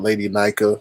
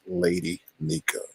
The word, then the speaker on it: Lady Nyca: It's not Lady Nyca, like some people say. It's Lady Nyca.